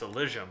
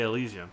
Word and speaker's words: Elysium: I looked up the pronunciation, and it's Elysium, but they say Elysium.